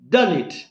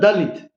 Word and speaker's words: Dalit: That is a true and original pronunciation in Hebrew language, because Dalit is originally a Hebrew word.